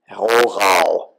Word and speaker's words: Rohrau: should say, of Rohrau, which is one of those German words that separates the wheat from the chaff if you try to pronounce it the way a German speaker would. It's got two German R's in it.